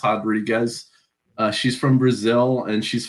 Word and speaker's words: Rodriguez: that is Marina Rodriguez, spelled Rodriguez on paper, but it's pronounced Rodriguez.